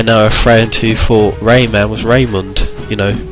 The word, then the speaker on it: Rayman: It's Raymond. It's like, no, it's Rayman. You know, that's how it's spelled. That's how you say it.